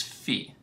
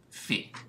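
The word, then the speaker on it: phi: this symbol from the Greek alphabet which is Fe so remember the peptide can rotate around this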